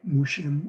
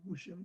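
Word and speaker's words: 무심: Eric, in my experience of no mind, Mushim, or he called it Mushim, which is the Korean pronunciation of no mind, it's a sort of like to remember.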